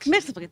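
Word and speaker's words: Mxyzptlk: Oh, I always say his name wrong. Mr. Mixplitic? Is that right in the Mixelplic? comic? Mixelplic, thank you.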